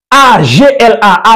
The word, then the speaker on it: Agla: A, G, L, A, Agla, qui se prononce comme il s'écrit et qui renferme hiéroglyphiquement tous les mystères de la Kabbale.